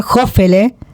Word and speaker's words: Hofele: Estoy con Milly Piolet y con Jime Fuertes con eh, voy a pronunciar bien tu apellido por primera vez en la vida, Julián Jofele, ¿no?